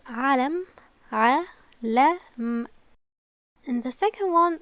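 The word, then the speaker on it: عَلَم: With just Fatha, it's Alam, Alam.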